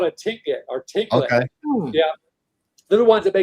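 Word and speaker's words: Tlingit: out to berry pick was how do you pronounce it? A tinglet. It's a kind of Native American tribe that originated in Alaska. Inuit? What's that? An Inuit? No, they're called a tinglet or tinglet.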